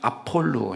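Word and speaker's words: Ἀπολλύων: 그리스어로는 아볼로이라고 했는데 아입니다 비가 아니고 피 발음입니다 아폴로 있니다 아폴로이라는 말은요 파괴자라는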